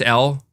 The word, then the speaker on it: Elle: And it's just L.